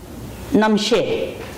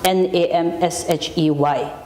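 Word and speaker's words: rnam shes: And then another word, Namshe. Transliteration, R-N-A-M-S-H-E-S. It's pronounced N-A-M-S-H-E-Y, Namshe.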